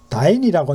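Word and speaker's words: dyne: 자, 그다음에 여기 이제 한번 또 보면 뭐 BSI 단위가 있는데 여기 여러분 이게 다인이라고 요거 다인이라고 읽습니다.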